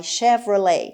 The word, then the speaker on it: Chevrolet: همونی که ما بهش میگیم شورلت یا هرچی، این تی آخر تلفظ نمیشه در انگلیسی. My Chevrolet. و دقت کنید که CH رو داریم ش میخونیم.